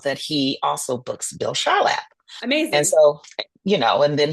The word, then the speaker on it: Charlap: I could say, spiritually, it came to me, and I heard his name, and it's Charlap, not Char. Charlotte, excuse me, Char, Mr.